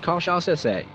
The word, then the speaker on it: cachaça: Pronounced cachaça, it is distilled from sugarcane juice.